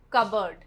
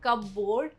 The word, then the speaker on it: cupboard: Word 33, cupboard. Not cupboard, cupboard.